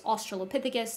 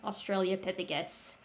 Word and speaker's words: Australopithecus: For the record, it is Australopithecus, not Australiapithecus.